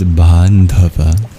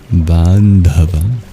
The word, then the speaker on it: bāndhava: And the word of the verse is bandhava. Bandhava.